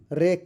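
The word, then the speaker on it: wreck: जी silent है आपका island है इसमें एस साइलेंट है आपका रेक है इसमें डब्ल्यू साइलेंट है यह आपका कंपेन है इसमें जी साइलेंट है ये आपका फासन फासिन है।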